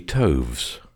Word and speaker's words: toves: how to pronounce slithy Toves the i' in slithy is long as in rise and Toves is pronounced so as to rhyme with groves again the first o